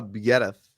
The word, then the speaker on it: Biereth: Mika Biereth.